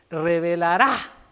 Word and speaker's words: revelará: Sin embargo, la palabra de Dios revelará, con acento en la A, al investigador.